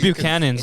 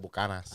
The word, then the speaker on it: Buchanan's: How do you guys pronounce it? It's, Buchanas? it's Irish whiskey. It's so Irish actually, Well, it's Buchanan's, it's right? Buchanan's. Yeah. Yeah. But the Hispanics call it Bucanas.